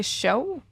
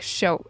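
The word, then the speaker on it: sjov: do you say it we say show and you spell it you spell it s j o v so you don't emphasize the v not really it's just like show it's more like a sound okay if you were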